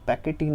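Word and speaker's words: pachytene: तो leptotene, zygotene, पेकाइटिन, या कई बुक्स में इसको या कई प्रोनाउंसिएशन में इसको पैकेटीन भी बोलते हैं, डिप्लोटीन, डाइकाइनेसिस।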